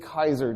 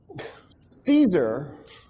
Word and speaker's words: Caesar: what a guy named Gas ulius Kaiser did yeah you guys incorrectly call him Julius Cesar Caesar I'm going to do